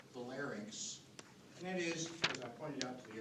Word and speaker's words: larynx: sounding kind of semi-illiterate larynx like skating rinks almost mispronounced orders and